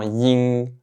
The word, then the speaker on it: ying: Donc encore une fois, faites attention de ne pas prononcer le G à la fin. Ne dites pas ying, ying. Dites seulement ying, ying.